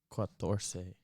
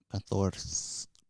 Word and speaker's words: catorce: Cinco. that's not how you say it. Quatorce. Catorce. Catorce. Yes, exactly.